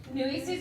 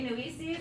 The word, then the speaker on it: Nueces: Nueces River, is that what you're going to say? Yeah. And how do you say Nueces? Do you say Nueces or Nueces?